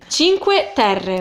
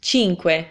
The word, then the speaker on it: Cinque Terre: So cinque, you have the ch, you You have the Q-U-E, so que, cinque. Like, think of question.